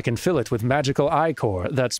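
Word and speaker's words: ichor: tropical chalice i can fill it with magical i-core that's pronounced i-core choose your i-core wisely ah so red will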